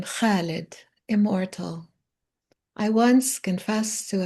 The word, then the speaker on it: Khalid: I would tell her it's the same sound as in khamseh, khobez, sabanekh, five, bread, spinach. And my favorite name, Khalid, immortal.